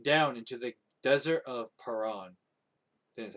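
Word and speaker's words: Paran: then david moved down into the desert of perron this is how you say that now a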